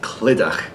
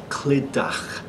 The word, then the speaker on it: Clydach: It's actually a Welsh name, a Welsh town name. It's a little bit difficult to pronounce. The name is Clydach. Clydach.